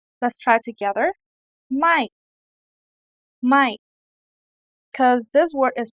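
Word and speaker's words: ไม่: word is short and stress let's try together my my because this word is pronounced similar to the other words so you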